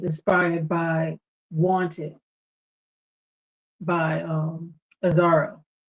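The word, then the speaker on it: Azzaro: And Outlaw that that fragrance is inspired by Wanted by um Aaro. Am I pronouncing that correctly? Aaro. Correct.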